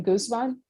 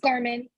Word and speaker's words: Garman: contact and I'm sorry is your last name Guzman it's Garmin Garmin how do you spell that please g-a-r-m-a-n all right and there should